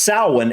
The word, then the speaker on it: Samhain: However, historically, Halloween, or more accurately, Samhain. Samhain. Wow. Okay, so it's pronounced Samhain, and something I'm getting quickly from those few clips there is that this may be the actual original Halloween.